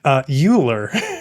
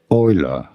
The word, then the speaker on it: Euler: Anyway, she pronounces the famous mathematician's name Euler. And I was like, oh no. But Euler's theorem gives you that immediately. How do you go about pronouncing his name? Leonhard Euler. It's, of course, Euler, but this is like affine trackers.